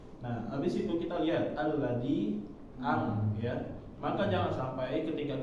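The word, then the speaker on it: الذي: Nah, habis itu kita lihat alladzi ya. Maka jangan sampai ketika kita mengucapkan huruf A ini kita mengucapkannya enggak jelas ya. Suara ini langsung masuk. Contohnya alladzi sedangkan huruf A ini termasuk dari huruf syiddah,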